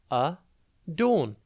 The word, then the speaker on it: adorn: today's word is adorn it's pronounced a dawn and it is spelt a d o r n think add and then on adorn means to make